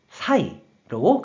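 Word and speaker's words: 裁: 그래서 재판할 재, 말을 재가 되었고 뜻으로는 사박구, 음으로는 사이로 각각 발음한다고 설명드렸어요.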